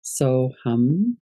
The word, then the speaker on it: Soham: We're going to work with the mantra So Hum. It's written SOHAM, but the HAM is in Sanskrit, it's pronounced hum.